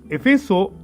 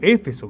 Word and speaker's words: Éfeso: Y dice: Efeso era la capital, o Éfeso mejor dicho, bien pronunciado, Éfeso era la capital